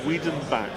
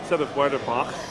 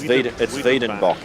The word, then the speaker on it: Wiedenbach: It's actually Wiedenbach. Oh, that's even better. That's even better. Yeah, it's an N, not an R. So instead of Werderbach, It's Wiedenbach. It's Wiedenbach. Wiedenbach.